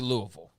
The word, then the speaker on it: Louisville: or not uh but up next will be Louisville for those wondering say right you said it